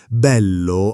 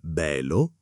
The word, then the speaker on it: bello: Bello ha quella L doppia che vibra un attimo. Non bello, ma bello.